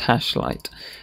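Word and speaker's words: #light: light syntax is on we've got a hash and a light word here and it's pronounced hash light and we usually put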